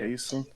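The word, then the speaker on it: Chaisson: I think it's pronounced Clavon. Clavon. Yeah. Cason?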